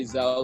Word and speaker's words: Xxel: search it up because if you just say zello like over the radio and you've never heard